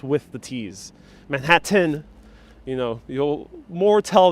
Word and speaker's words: Manhattan: well in all seriousness a lot of new yorkers don't actually pronounce the t in manhattan uh regardless of where